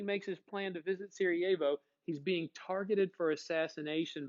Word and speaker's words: Sarajevo: of the city is up here it's called sarajevo that's how you spell it but it's pronounced sarajevo it looks like sarah and then j evo